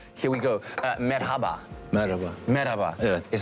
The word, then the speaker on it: Merhaba: Merhaba is how you say hello.